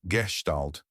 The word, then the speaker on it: Gestalt: Gman Mandler 2002 an important development in Europe at the beginning of the 20th century was Gestalt pronounced Gestalt psychology.